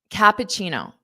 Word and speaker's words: cappuccino: Now, cappuccino. Cappuccino. So the ending sound has that chino, chino, chino, chino, pacino, pacino, kappa, kappa, Cappuccino.